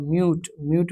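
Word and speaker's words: mute: Vote में भी आपका जो है ई साइलेंट रहता है। और म्यूट में भी आपका जो है ई साइलेंट रहता है।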